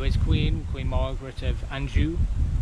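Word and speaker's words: Anjou: queen Queen Margaret of Andrew I think that's how you pronounce it Andrew it's a French name she often times ruled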